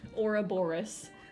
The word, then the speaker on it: Ouroboros: So I was gonna do the Ouroboros.